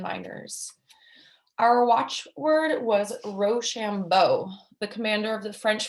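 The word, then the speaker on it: Rochambeau: our watch word was roshambo the commander of the french forces name a good watch word for being pronounced ro shambo it sounded when pronounced quick like rush on voice the blood kurzon tried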